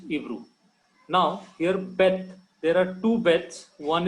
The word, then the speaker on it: Beth: When there is no dot in Beth, that is transliterated as V.